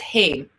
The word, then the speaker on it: Haim: It's Haim.